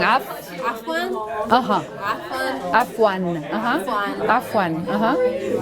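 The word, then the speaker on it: عفواً: There's an ending on it that's missing. Af. عفوا. Uh-huh. Afwan.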